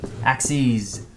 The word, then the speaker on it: axes: time by the way singular axis plural axes that's how you pronounce it axes so singular is axis